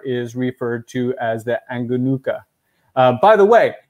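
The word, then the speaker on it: Angonoka: By the way, if you are in North America and you think I'm saying these O's oddly, it's because I am. The O in Malagasy is pronounced as an U, as in the wonderful drink, Yoo-hoo.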